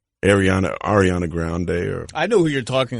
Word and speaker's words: Ariana Grande: Ariana Grande. I said her name wrong. Ariana Grande.